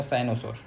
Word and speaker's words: cynosure: तो डायनासोर में डी रहता है ना, तो डी को हटा के बस सी कर देना, तो हो जाएगा साइनोसोर। स्पेलिंग देख लो, CYNOSURE। श्योर की स्पेलिंग तो एकदम सिंपल श्योर वाला ही है, जो हम लोग श्योर वाला बोलते हैं वही।